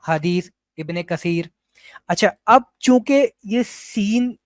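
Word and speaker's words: ابن كثير: बहुत सारे हमारे दाद भी ये मिस्टेक करते हैं कि वो इबने कसीर जो होता है उसको उसको पढ़ते हैं इब्ने कथर इबने कथर प्रोनाउंस कर रहे होते हैं वो या और भी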